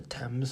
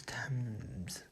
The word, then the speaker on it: Thames: I just love how it's like not the Thames, but it's like the Thames is how you pronounce it. Thames.